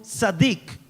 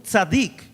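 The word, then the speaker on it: tsadiq: Cuando dice que él era justo, lo que se está diciendo es que José era un tzadik. Se escribe T-S-A-D-I-Q, un tzadik.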